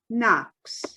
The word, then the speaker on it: Knox: no more miss knox the k is silent dear it's knox it's pretty silent too